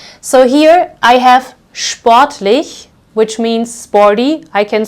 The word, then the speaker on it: sportlich: So if you find this combination at the beginning of the word or the syllable, you will pronounce this as sp. So here I have sportlich, which means sporty.